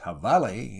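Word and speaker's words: jabalí: their own haunts the habali pronounced havale in the mexican version of the spanish language is the wild hog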